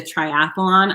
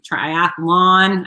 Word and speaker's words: triathlon: that you completed the triathlon i actually um triathlon i always add that extra syllable maybe it's because i'm